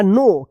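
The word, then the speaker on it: know: नो या नो? क्या पढ़ेंगे? इसको पढ़ेंगे नो। क्योंकि यहां पर के जो है ना साइलेंट रहेगा।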